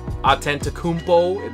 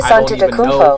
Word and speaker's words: Antetokounmpo: Okay, so Giannis Antetokounmpo?